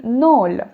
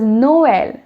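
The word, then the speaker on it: Noël: okay or axon trema it would have been null now i am pronouncing it as noel which means i am separately pronouncing the vowels now that is exactly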